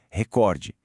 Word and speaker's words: recorde: O jeito certo de falar é asvaru, filantropo, ibero e claro, voltando lá na nossa primeira pergunta, recorde, em todas elas, sem exceção, a força tá na penúltima sílaba.